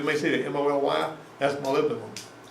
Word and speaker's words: molybdenum: Some people that don't know how to pronounce that will say molybdenum, but it's molybdenum is what it is. Looks like molybdenum to me too. Molybdenum. I may be saying it wrong myself.